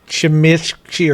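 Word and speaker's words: Tzimisce: So, I guess it is actually pronounced like Chimishi or some something terrible, even though it's spelled Zamisk.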